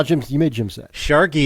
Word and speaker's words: Sharky: Sharky, it rhymes with snarky.